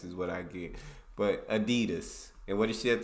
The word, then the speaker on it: Adidas: were referring to because they usually pronounce it Adidas and in Germany we say Adidas Adidas Adidas super different it's the second largest